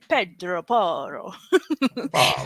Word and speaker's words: Pedro Porro: And same with Pedro Porro, we have to say Pedro Porro. We just can't. You just can't say his name just normally. It's Italian. That's like an Italian name, Pedro Porro. It's not Portuguese.